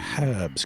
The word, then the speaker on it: herbs: all the ways to give yourself Advantage we pronounce it herbs because it's got a H